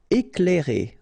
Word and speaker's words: éclairer: Éclairer. Okay, C and L together, you will pronounce this cl, cl.